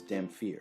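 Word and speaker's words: dhampir: sometimes they're called dampier i've always heard them pronounced as damn fear with a ph and like so many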